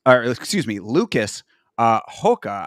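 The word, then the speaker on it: Rocha: excuse me Lucas uh Hoka I believe is how it's pronounced you know Brazilian pronunciation but Clayton Carpenter versus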